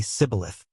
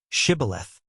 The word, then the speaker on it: shibboleth: The Ephraimites, because of their dialect, couldn't pronounce the sh sound and would say sibboleth. Then they would say to him, "Now say shibboleth," but he would say sibboleth, because he couldn't pronounce it correctly.